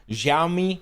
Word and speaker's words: Xiaomi: will become cheaper so XI or I can't pronounce the name xiaomi that's how you you pronounce it they have